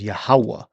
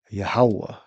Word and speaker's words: Yahweh: They pronounce the wa with a V sound. That's much modern. The ancient way, the proper way is Yahweh. You would say wa. Yahweh.